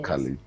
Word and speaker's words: Ochali: It's only Ochali. his. It's pronounced as Ochali or Okali.